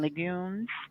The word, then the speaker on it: legumes: or your beans and legumes. Legumes is how you say it.